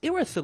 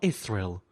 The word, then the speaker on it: Irithyll: Also, I have been mispronouncing this place the whole time. It's Irithyll of the Boreal Valley, not Irithyll.